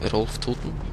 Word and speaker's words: Rolf Toten: It's a bail bond for Rolf Toten, which is actually a sort of a Norwegian name. Rolf Toten. That's how you say it in Norwegian, anyways.